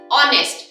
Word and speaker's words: honest: The H out here is silent.